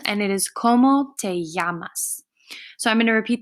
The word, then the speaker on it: llaman: double L here in Yama's when we have a double L in Spanish we're going to pronounce it kind of like a Y so yamas so when you see